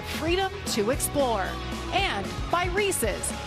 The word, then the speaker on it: Reese's: now yeah except for you're saying it wrong in Tennessee I mean growing up it was Reese's not Reese's that's right I had to